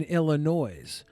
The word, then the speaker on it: Illinois: There's no noise in Illinois.